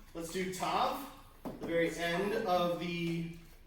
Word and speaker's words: Tav: Let's do tav the very end of the alif b. Say it together. What is it? Tav. Okay. Tav. Tav as in T as in tall.